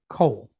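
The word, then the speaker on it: כָּל: So this is going to sound like a K with an O and then the letter L. So the word is coal.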